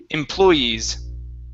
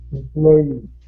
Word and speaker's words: employees: next one here is employees my stress is the stress is right there employees employees okay very good very